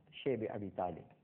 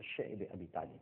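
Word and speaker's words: شعب أبي طالب: اور اس کے بعد شیب ابی طالب، جس کو بعض حضرات شعب ابی طالب بھی کہتے ہیں، لیکن جس کا صحیح تلفظ ہے وہ شعب ابی طالب ہے، ایک گھاٹی تھی، آج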